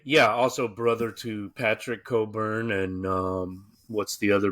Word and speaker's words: Cockburn: It's pronounced Coburn, but yes, but it's spelled Cockburn. Okay, like the burn on your Um I was just confused yesterday. Yeah, it's Yeah, it's Coburn.